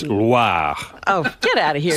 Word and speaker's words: Loire: It's not LWA. Oh. It's Loire.